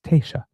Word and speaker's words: Taoiseach: I have to, it's written, it is spelled Taoiseach, which, if I'm reading it, I would think it's Taoiseach, but because, of course, it's a Gaelic, it's Taoiseach.